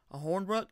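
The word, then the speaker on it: Hornibrook: last year we have Alex a horn Brooke I believe is how you pronounce his last name he went 43 for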